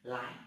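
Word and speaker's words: 来: Cái này bạn đọc là lái. Âm nó gọi là lai hay là tương lai.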